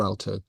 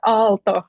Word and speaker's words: Aalto: even understand now that I pronounce Alto wrong but whatever that's okay um but Finnish does soft Dental teas so it's Alto rather than Alto um but in any